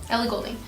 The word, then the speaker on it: Ellie Goulding: Yeah, Ellie Goulding.